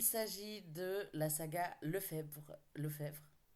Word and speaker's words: Lefebvre: de la saga Lefebvre Lefebvre on prononce plutôt le chèvre je pense de Noémie Dany qui